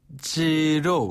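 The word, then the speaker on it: 鸡肉: 영어 발음이 아아네 그렇죠 중국에서는 그 닭고기 치킨을 로라고 해요 지로 한번 다 지로 지로네 어 지로 영수 중 할 때 지로 영수 중 지로 느낌 살려서 한 번 더 지로 지로네 요게 이제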